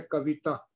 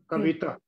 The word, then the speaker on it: कविता: हाँ, एक बात और है, कविता शब्द का जो उच्चारण है हिंदी में, अब मैं कविता बोल रहा हूँ क्योंकि मैं पंजाबी से ज्यादा जुड़ा हुआ हूँ। वास्तव में इसका उच्चारण है कविता। कविता, वाह को छोटी ई की मात्रा जो बड़ी मात्रा के नजदीक जाता है, इसका उच्चारण कविता।